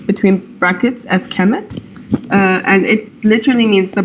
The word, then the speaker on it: Kemet: standard kmt but we pronounce it or they pronounced it on their websites like between brackets as Kemet and it literally means the black hand and